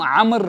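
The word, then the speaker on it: عمرو: उमर आई meme रा अगर आपको एक ऐसा नाम मिलता है वि स्टार्टस विद आईन आईन मीम रा वाव क्या हम उसको अमरू पढ़ेंगे नो उसको अमरू नहीं पढ़ेंगे उसको हम आमर पढ़ेंगे वाव साकिन होता है साइलेंट होता है राइट फॉर एग्जांपल बहुत सारे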